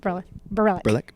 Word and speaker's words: Berelc: You recently wrapped shooting Kissing is the Easy Part with Paris Berelc? Yes. How do you say your name? Berelc. Okay, Berelc. Berelc. Her name is very hard to pronounce.